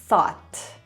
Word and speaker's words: thought: I wymowa prawidłowa tego słowa to jest thought.